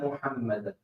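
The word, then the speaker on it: محمدًا: Pronounce ha properly. We put ha instead of ha with ashhadu, and we put ha instead of ha.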